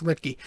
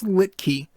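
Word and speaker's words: Luetge: And when your bullpen consists of Lucas Litke, finally said it right, by the way. I finally got the name right. I heard it today, and I was, okay, it's Litke.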